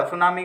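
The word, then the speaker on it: tsunami: तक की नियुक्ति शीघ्र मीरवाइज को सुनाओ टांडा सुनामी कहां-कहां चप कि सक्रिय था तो देखो अंग्रेजी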